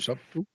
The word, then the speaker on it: subtle: There's a B. You have to pronounce the B. Yeah, you pronounce it. It's very subtle. It's a subtle B, but you have to pronounce it.